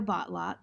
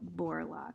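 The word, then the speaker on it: Borlock: read as a hobby leo botlock connect collects porcupine neckties leo borlaug sorry i mispronounced his name several days later coming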